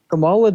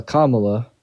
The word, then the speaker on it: Kamala: wants to do so much for this country Camala doesn't even know like Whata that's how you pronounce her name uh Kamala excuse me sir um doesn't know like her